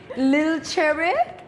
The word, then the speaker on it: LilCherrih: You do have to correct me with my pronunciation, but LilCherrih? Just no H, just cherry. Chair. Cherry. So chair. Yes. It's like a little cherry, but Like a cherry.